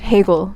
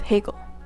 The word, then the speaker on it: Hegel: Bagel rhymes with Hegel. It doesn't. It does, too bad.